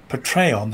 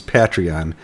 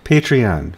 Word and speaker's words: Patreon: American audience patreon patreon it's like a patriot patreon something's like it's a